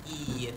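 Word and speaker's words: いいえ: okay and then EA make sure you hold out the e at the beginning so EA e okay someone is enthusiastic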